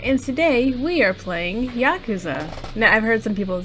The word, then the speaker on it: Yakuza: hello starletsgalaxy here and today we are playing yakuza now i've heard some people say it was yakuza but i checked the pronunciation let's just check it again real quick yakuza yeah okay now one last thing there we